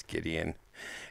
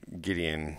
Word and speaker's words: Gideon: our minds back to a guy whose name actually rhymes with Midian his name is Gideon and um and just